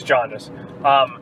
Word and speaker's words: jaundice: a yellow sweetheart jaundice Mikey don't know how to say it it's jaundice so I was thinking